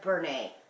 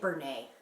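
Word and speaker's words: Bernat: I say Bernay. B-E-R-N-A-T. I say Bernay.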